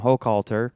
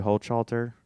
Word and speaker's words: Hochhalter: My guest today is Sam Hokalter. Hello. I pronounced that correctly. Yeah, you you pronounced it perfectly. Somebody said the other night at the show they called you Holter.